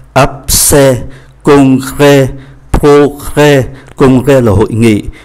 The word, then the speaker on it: congrès: Congrès, mang accent grave thì phát âm là e.